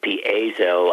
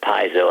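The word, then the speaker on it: piezo: and by the way I used to call it Paso I now call it piso and I'm not sure of the pronunciation but piso electric effect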